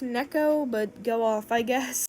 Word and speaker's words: Neko: I'm pretty sure it's pronounced Neko, but go off, I guess.